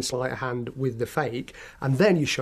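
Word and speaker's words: feke: Okay, a fake is something that looks real, but it's not, and it's spelled F-E-K-E, sort of magician's terminology.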